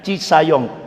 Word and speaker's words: Cisayong: Islam Indonesia di Cisayong tapi tulisannya kan ciajong bacanya Cisayong Jawa Barat dan Pak